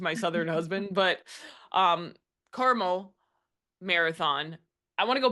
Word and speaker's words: Carmel: highlight is that the Caramel Marathon? The Carmel, how do you pronounce it? Caramel. There's Sorry, no extra A.